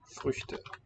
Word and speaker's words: Früchte: If we contrast it with the plural of the word fruit, that one has a short vowel and a closed syllable. Früchte. Früchte. Short here, and also typisch, although